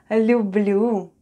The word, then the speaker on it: люблю: Let's read Л, Ю, Б, Л, Ю. And we have люблю. Люблю. Люблю. Люблю is I love in Russian. Люблю.